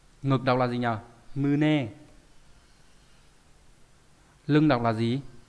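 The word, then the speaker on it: 胸: Đọc là mư nê.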